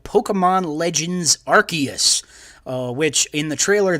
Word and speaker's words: Arceus: the next announcement was is called pokemon legends arceus uh which in the trailer they pronounced it arceus and i learned that i have been saying arceus this whole time which is wrong but i'm